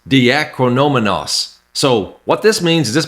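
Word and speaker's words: διακρινόμενος: The Greek word right here is pronounced diakrinomenos.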